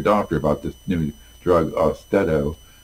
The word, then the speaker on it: Austedo: Talk to your doctor about this new drug, Austedo. They pronounce it Austedo, like steadiness. I look at it and say Austedo, but that's just my own personal preference to pronounce words, not knowing how they're pronounced.